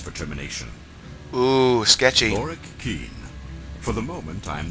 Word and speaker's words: Keen: Oh, it's pronounced Keen.